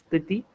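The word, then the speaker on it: petit: The word for small is pity. T silent at the end. For example, Mino a pity.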